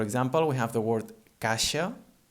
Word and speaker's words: caixa: middle of a word, it becomes a sh sound, like in she, for example. For example, we have the word caixa, caixa, that is spelled C-A-I-X-A, en català C-A-I-X-A.